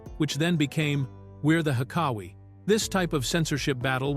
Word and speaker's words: Hekawi: They settled on the Hekawi tribe, pronounced Hekawi, which maintained the basic sound pattern of the original joke while using much cleaner language.